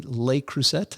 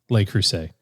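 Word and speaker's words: Le Creuset: Uh Pette uh who is our brilliant writer for this show says my how do you pronounce that? Lelay Lelay Cruset. I'm not familiar with that. Lelay Cruset.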